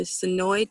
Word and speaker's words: Senoia: One thing for visitors to note about Sonoy is, although you might think Sonoy would most likely be pronounced Sonoya, don't be fooled.